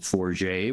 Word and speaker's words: Forget: a little funny town called Forier which is spelled forget.